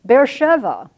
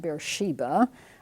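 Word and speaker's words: Beersheba: such an important place bear Sheva and you'll notice that's transcribed there is bear Sheva not bear Shiba I will continue to use that pronunciation and spelling this is a very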